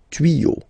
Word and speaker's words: tuyaux: Same rule here, you won't add S at the end, but instead of S you will put X, okay. Des tuyaux, same rule, you don't pronounce it.